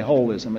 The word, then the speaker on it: holism: It's hard to say wholism. So, we just say holism. It doesn't mean it's got a hole in it.